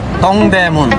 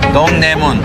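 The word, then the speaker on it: 동대문: you say that in korean in korean it's dongdaemun dongdaemun yeah means is great gate historically the soul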